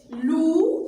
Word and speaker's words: loups: Les, loups, comme toujours, le PS est sans des lettres muettes.